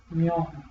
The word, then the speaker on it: 면: Pronunciamos 면, mion, 면. mion. Entonces las palabras que tienen la sílaba 면 significan algo de cara.